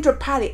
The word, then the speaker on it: Draupadi: That's how you say her name, Draupadi.